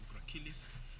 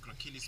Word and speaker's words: gracilis: So now I go to the gracilis or gracilis. I call it gracilis because it's just spelled like that with a C though.